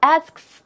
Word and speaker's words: asks: asks 이렇게 발음을 해야 되는데 이게 혀가 쉽지가 않아요.